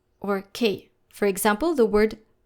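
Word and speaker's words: cœur: with the word k, the liature is followed by u which is a vowel. Therefore, we are going to pronounce C like the letter K.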